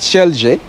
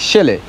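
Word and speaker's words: Celje: So I'm pronouncing it Shelge, but it's a C-E-L-J-E. In English, you will like automatically want to say a Shelge, but it's Shelley, right?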